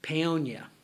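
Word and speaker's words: Paonia: Peyonia.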